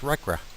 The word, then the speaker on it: RCRA: conservation and Recovery Act abbreviated as RC a and pronounced recra recare requires a total